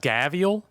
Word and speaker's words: gharial: says it's tier four oh there it is pronounced gaviel okay buy choose one level one toy from